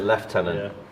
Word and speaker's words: Lieutenant: same thing for lieutenant Lieutenant is spelled Lieutenant but it's pronoun but we pronounce it leftenant and again I think it's the French pronunciation seems kind of petty